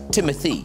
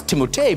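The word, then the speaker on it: Timothée: teot or OT it's really confusing T it's pronounced Timothy I always thought I don't know if you guys I thought it was timote because of the double e this was Timothy's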